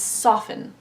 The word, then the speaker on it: soften: The word soften, for example, or often. We don't pronounce the T. Some do for the word often, but generally speaking, we tend to drop that T. It becomes soften.